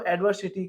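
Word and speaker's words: adversity: आपको एडवर्सिटी को प्रोनाउंस करना है एडवर प्लस सिटी।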